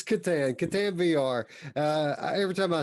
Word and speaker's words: Catan: Soft C. Oh, I'm sorry. It's Satan. Yeah, or is it Satan or Catan? It's Catan.